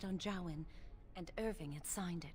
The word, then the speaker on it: Jowan: It authorized the right on Jowan, and Irving had signed it. Oh, that's how I pronounce it, Jowan.